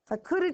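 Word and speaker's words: coup d'état: of course for coming to power in a cud one of your vocab words looks like coup deat c o u p d e t a t it's pronounced cud AUD is basically overthrowing the government now that's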